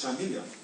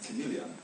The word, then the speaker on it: chameleon: teacher pronouncing this as chamilion and then he quickly seped into the classroom called the teacher outside and said said to him that word is chamelean not chaman the TE said thank you